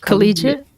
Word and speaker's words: collegiate: How do you pronounce that word? Collegiate.